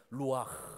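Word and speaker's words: רוח: 놓으신 다음에 생기를 불어넣으셨는데 그 생기가 히브리 말로 루아흐입니다 이 발음이 우리는 없는 발음인데 루와 생깁니다 이건 영원한 숨이에요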